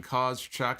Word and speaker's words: Kozchuk: Okay, that's the pronunciation. Kozchuk.